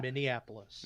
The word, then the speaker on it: Minneapolis: in all those mini Annapolis hapless no it's Minneapolis Minneapolis okay Minneapolis okay it sounds weird